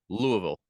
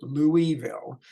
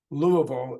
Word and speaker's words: Louisville: live from the studios of Studio Simon in Louisville Kentucky how am I doing Dan saying Louisville say it again Louisville that's perfect is it okay all right good